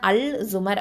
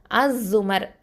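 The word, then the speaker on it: الزمر: அங்க வந்து அல்சுமர் அப்படின்னு இருக்கு இல்லையா? ஆனா நம்ம எப்படி உச்சரிக்கணும்? அசுமர் அப்படின்னு தான் உச்சரிக்கணும்.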